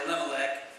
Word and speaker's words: Elimelech: story is this difficult name for me to pronounce a little neck everybody say elimelech thank you you did better than i did